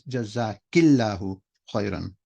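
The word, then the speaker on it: جزاكِ الله خيرا: For a sister it's jazakillahu khairan.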